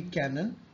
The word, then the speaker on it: canon: Today our word would be canon. It's pronounced as canon.